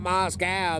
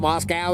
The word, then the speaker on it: Moscow: And then when people correct me and tell me, hey, it's Moscow, not Moscow, then that just makes me want to call it Moscow even all the more.